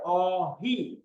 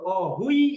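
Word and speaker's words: 어휘: আচ্ছা, এরপরে আমরা এখানে আসছি অহি, এটার উচ্চারণ হবে অহি। এটার উচ্চারণ অনেকটা ইকারের আধিক্য বেশি থাকবে, অহুই এরকম না, অহি, অহি এরকম।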